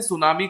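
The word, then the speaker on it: tsunami: sudden rising होता है इसे जापानी लैंग्वेज में सुनामी कहा जाता है इनका टी साइलेंट राहत है इस ऑन डी इवनिंग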